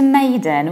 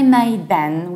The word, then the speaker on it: maiden: And when it comes to maiden, we do the analogical thing. We don't say MAIDEN, we don't say den, because den is a separate word. We say maiden, maiden.